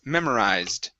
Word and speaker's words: memorized: okay or a d it's ending with a z so this is we're going to skip over that e sound okay so instead of uh pronouncing that it's memorized memorized okay very good and this